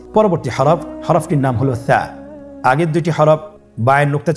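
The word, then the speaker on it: ث: মাখরাজ হল উচ্চারণ স্থান জিহ্বার আগা সামনের উপরের দুই দাঁতের আগার সঙ্গে লাগিয়ে উচ্চারিত হয়।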